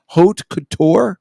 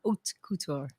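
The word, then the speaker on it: haute couture: what is it hot cout how do you pronounce it hot Couture OT Couture OT Couture which means uh it's not it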